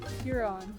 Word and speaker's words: Huron: Huron.